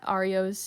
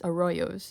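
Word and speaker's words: arroyos: They also encountered many Aros. Nope, not Arios. Aoyos, which are essentially temporary dried up river beds in deserts.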